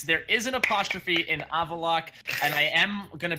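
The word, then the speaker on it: Avallac'h: There is an apostrophe after the C and the H, because fuck it, why not? Who the hell cares? It's a silent H even, but he said screw it. That H is not only silent, it is isolated.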